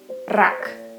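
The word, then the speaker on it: рак: Okay, next one, combination ra, and the final sound will be also k. Combine it together, rak, rak, which means cancer or crab.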